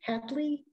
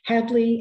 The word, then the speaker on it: Hadley: of solano and handley hadley i always mispronounced that street hedley and solano and took